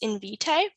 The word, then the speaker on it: Invitae: I ordered an at-home genetic testing kit through, I think it's pronounced Invitae. Yep.